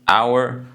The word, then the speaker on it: hour: So some words like honest, hour, start with consonants, but their sound is a vowel, so I use an.